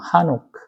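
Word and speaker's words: חנוך: 그래요 에녹 에노스 비슷하잖아요 근데 히브리어로는 조금 달라요 어 우리가 에녹이 하는 것이 뭐 발음에 해보면 하노크 그래서 시작된 창시된이란 뜻이고요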